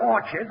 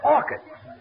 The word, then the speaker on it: orchids: It's not orchards, it's orchids. The ch is pronounced like K.